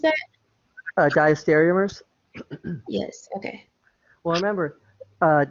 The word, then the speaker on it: diastereomers: or something like that right how do you pronounce that uh diastereomers yes okay well remember uh diastereomers are when